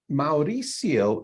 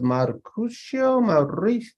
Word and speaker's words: Mauricio: college so so um Mauricio is my name but a number of folks could not pronounce it it was Marcus no lie I got one time and I'm like really